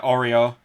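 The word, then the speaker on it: Oryō: ma and his wife Oreo for you yeah Oreo laughing that's how you pronounce it it's oh why are you she's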